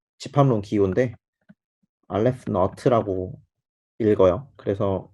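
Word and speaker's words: aleph naught: 이거 그냥 자연수 개수를 나타내는 그 집합론 기호인데 알레프 너트라고 읽어요.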